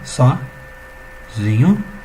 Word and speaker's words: sozinho: Muita gente vai pronunciar como sozinho, tá? Mas o correto dessa palavra agora é em posição de quê? Em posição de paroxítona, tá, gente?